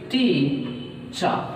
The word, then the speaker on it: teacher: the same way so i may take stress on the first syllable t and whereas there is no stress on second syllable chart that means i